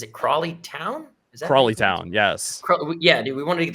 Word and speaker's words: Crawley Town: We wanted to get to, how do you pronounce it? Is it Crawley Town? Is that Crawley Town?